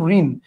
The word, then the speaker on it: ঋণ: খেয়াল করেন ঋণ। ঋণ বানানটা আপনি লিখছেন এভাবে কিন্তু উচ্চারণ করার সময় ঠিকই কিন্তু আপনি বলতেছেন কি দন্তন্য দিয়ে তার মানে মূর্ধন্য